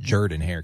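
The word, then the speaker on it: Jordan-Hare: By the way, it's pronounced Jordan Hare.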